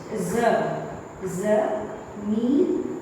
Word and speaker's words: ज़मीन: उसके बाद पढ़ेंगे ज, मीन, न, ज, ज़मीन, जमीन।